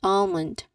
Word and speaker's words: almond: Almond not um um not you do not pronounce it as like that not almond. Almond you do not pronounce the letter L sound because again here there is a silent L.